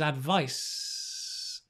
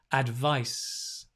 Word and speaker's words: advice: the first one however the noun the second one is advice it's not voiced so it's a s i like the snake right advice advice so put them